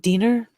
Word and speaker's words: Diener: and failed to inform inform judge is it deaner Diner yeah rhymes with yeah got it and failed to inform judge Diener of his obvious of this obvious suspect and